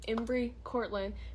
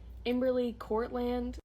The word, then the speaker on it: Embry Cortland: But yeah, this is a perfect time to tell you guys my name is pronounced Embry Cortland because a lot of people think it's like Emberly Cortland. It's okay though, but it's not. Fact 2 is my favorite color is probably navy blue or red.